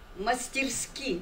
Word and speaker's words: мастерски: И я думаю, те уроки, которые мы сегодня извлекаем из замечательного, талантливого такого фильма, знаете, очень-очень, я скажу, мастерски, вот именно так произносится это слово, поставленного Артаном Бимбиевым, я думаю, что это войдет в золотой фонд именно искусства Калмыкии.